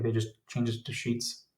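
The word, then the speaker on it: Sheetz: I think was the official first name, but then I think they just changed it to Sheets. It's spelled like bed sheet, but like with a Z.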